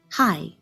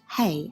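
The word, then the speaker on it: հայ: Notice that this is pronounced hi, not hey as we would in English.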